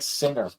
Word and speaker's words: singer: It's not even like singer. Singer, there's a G, but it's just not grr. Right? You don't need a grr at singer. Well, the word.